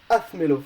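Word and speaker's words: házmelo: won't be accentuated, so you need a written accent in order like to be coherent, like it's hazme, hazmelo. So it's the same, but in order for it to be pronounced the same, you need to put a written accent in the hazmelo form.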